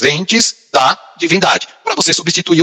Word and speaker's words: ente: filosófico que é chamado ente. Ente é E-N-T-E, ente, eu estou falando ente, para não falar ente, né? É a maneira da gente pronunciar o E aí como I.